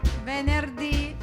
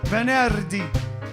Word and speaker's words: venerdì: How do you say Friday in Italian? Don't know. Venerdì. Venerdì. No, Venerdì. All right, then we'll see you on Venerdì. venerdì. Venerdì. Bravo.